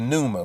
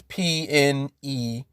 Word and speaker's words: pneuma: force which is the pneuma which is p-n-e-u-m-a the pneuma because the p is silent right so the pneuma